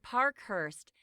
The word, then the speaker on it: Parkhurst: But actually, the reporter got his surname wrong. It should be Parkhurst.